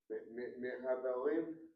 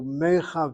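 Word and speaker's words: מחברים: Mehaberim. Mehaberim. No. The mem is in front of the chet letter, so mechaverim.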